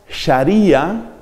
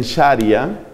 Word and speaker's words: sharía: el caso del islam la llamada sharía otros pronuncian sharia ese es un caso